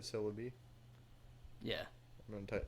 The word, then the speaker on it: Celebi: Like celery, but Celebi.